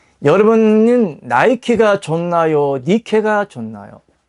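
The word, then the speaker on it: Nike: 니케인데 영어 발음으로 나이키라고 하는 것이고 원래 NIK는 니케인데 니케는 승리의 여신이에요.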